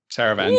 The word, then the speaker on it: Taravangian: Taravangian. Oh, Mish pronounced something correctly.